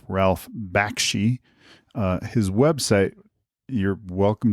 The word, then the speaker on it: Bakshi: Just to have realized I just mispronounced his name wrong. It's not Ralph Bashki, it's Ralph Bakshi. Uh his website, you're welcome to visit and read more about him from him. It's it's Bakshi Studios.